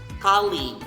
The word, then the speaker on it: colleague: Next is colleague. Remember the A with the diaresis? Colleague. Colleague. Colleague, not colleague, not colleague, okay?